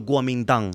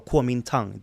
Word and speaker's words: Kuomintang: the Republic of China, or the Kuomintang as they are known, or Kuomintang, depending on what sort of pronunciation you're looking for.